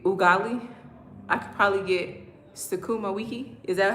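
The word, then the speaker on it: sukuma wiki: I could probably get Sakumaiki. Is that how you pronounce it? Sakuma Wiki.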